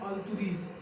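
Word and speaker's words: Altroz: इसे क्या पढ़ते हैं, अल्तुरीज, अल्तुरस मीन्स अल्तुरस नहीं, अल्तुरीज पढ़ते हैं, रस लिखा है लेकिन अल्तुरीज बोलते हैं, क्या अल्तुरीज, दैट्स अल्तुरीज कार, नॉट अल्तुरस कार, क्या that's अल्तुरीज, अल्तुरीज कार, आर you getting my point.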